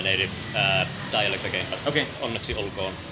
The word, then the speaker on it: Onneksi olkoon: Onneksi olkoon. I'm speaking in my native dialect again. But okay. Onneksi olkoon. Onneksi olkoon.